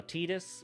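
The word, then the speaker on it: Tidus: like uh Tetus, which it's it's supposed to be pronounced Tetus, but we all know Titus sounds better.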